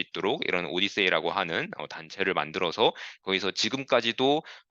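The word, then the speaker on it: OHDSI: 입장에서는 굉장히 좋은 것이니까 이 오디세이라고 우리가 발음을 하는 OHDSAI라고 하는 어떤 단체를 만들었습니다. 그래서 이것은 Observational Health Data Sciences and Informatics라고 해서 우리나라에서 이제 오디세이라고 부르고 있고요.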